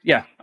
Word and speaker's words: Amodei: Not that I'm going to remember this, but how do you pronounce his last name? Amodei.